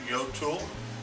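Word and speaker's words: Jøtul: uh we are standing in front of is pronounced Yul it's our Norwegian product also made in the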